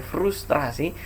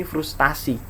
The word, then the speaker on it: frustrasi: Indonesia jadi frustrasi cuman mungkin karena lidah kita yang sulit mengucapkan frustrasi ya pernah kita banyak yang suka makan terasi mesin sehingga kau kenapa jadi sulit mungkin karena dua kali FR TR gitu ya frustrasi akhirnya kita lidah kita menggampangkan bunyinya menjadi frustasi nah bentuk itulah yang menjadi bentuk tidak baku karena yang tidak